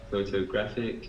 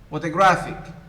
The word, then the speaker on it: photographic: So in the first word, it is the first syllable. The second syllable. The third syllable. So the first one should be, listen now to me. Photograph, photographer, photographic.